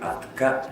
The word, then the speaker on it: атка: А если досконально разбирать с точки зрения фонетики тувинского языка, то «атка» в первом гласном слове «атка» лошади в первом гласном звуке имеется фарингализация, так называемая фарингализация. Или же по-тувински «укпадар», то есть при произношении этой буквы «атка» чувствуется напряжение мышц гортани, глотки.